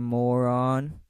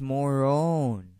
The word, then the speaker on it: Marone: Package for Mr. Moron. It's pronounced Morone.